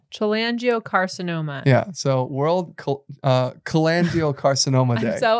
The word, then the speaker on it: cholangiocarcinoma: It's also World Chola Angiocarcinoma Day, which is a type of cancer that develops in the bile ducts and around the liver, also affects the gallbladder.